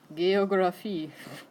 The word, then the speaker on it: Geographie: It's a hard G sound. How do you think you'd say that? Yeah, you all stopped when you got the G. So G instead of J.